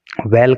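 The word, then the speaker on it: well: को, इनटू ए वेल, वेल का मतलब कुआं। देखिए आप जो है हमेशा प्रोनाउंसिएशन का खास ख्याल रखा करो, इसको हम बैल नहीं बोल सकते, बैल नहीं बोल सकते, इसको बोलेंगे वेल।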